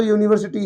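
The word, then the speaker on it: university: तो यहां पर लिखा तो यूनिवर्सिटी है और यूनिवर्सिटी का फर्स्ट लेटर आपका यू है। यू वोवेल में आता है। बट यहां पर यू की जो साउंड है वो या आ रही है।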